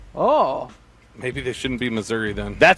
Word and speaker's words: Missouri: You know why they say it like that, right? No, not a clue. Because then it Missouri, it sounds like misery and they don't want that connotation.